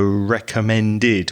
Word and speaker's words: recommended: heard was recommend so recommended when the verb ends in a d sound you need to pronounce the e d as id so recommended suspended etc but very very small